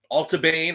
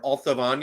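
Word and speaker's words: Allt a' Bhainne: yeah uh 108 um all ban or alavan if you want to say it like the gax um is a young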